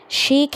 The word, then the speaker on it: shake: الإي هنا قبلها في حرف ساكن وقبلها في A. الA صوتها هيكون هنا طويل long A. مين اللي طوله؟ الإي السحرية اللي في الآخر. الإي السحرية ما بننطقهاش، بتتكتب وما تتنطقش silent يعني، وطولت الصوت فقلنا shake hands.